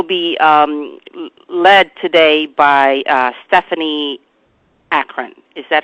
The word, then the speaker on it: Akron: services, which will be led today by Stephanie Akron. Is that how you say it? Akron.